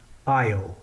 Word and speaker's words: Io: The first one that we'll stop at is Io, or Io, if you pronounce it that way.